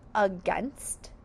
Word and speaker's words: against: Say against. The syllables of against are against uh you hear is a schwa. It sounds like a short u but it's really an a.